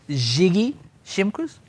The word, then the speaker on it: Ziggy Shimkus: It's Ziggy Shimkus. Ziggy? Ziggy, yes. It's very posh, isn't it? It is. It's like Dr. Zhivago.